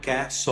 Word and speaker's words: castle: Mas por que que a hora que eu coloco lá para ouvir a pronúncia, ela sai totalmente diferente do que está escrito? Ó, Castle. tá vendo? Castle.